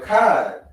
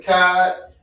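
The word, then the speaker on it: אחד: So You know the character CHAA, right? Mm-hmm. We don't pronounce it as Chad. That's the English way. Mm-hmm. It's always Ka, CHAA, or Ka, KA. So try to pronounce it one more time. There you go, Akkad. That's how you pronounce it, Akkad.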